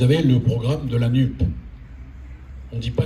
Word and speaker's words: NUPES: On ne dit pas NUPES, hein. On le sait parce que l'Académie française a dit hier qu'il fallait prononcer cela comme on prononce JUP. Comme on ne dit pas JUPES, on dit NUP.